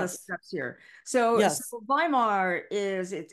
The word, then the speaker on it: Weimar: So yes, Weimar is it's spelled Weimar because yes, W is V in German.